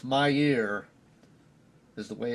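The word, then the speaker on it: Mier: And we're coming up on, I believe it's Mayer, is the way it's pronounced, M-I-E-R.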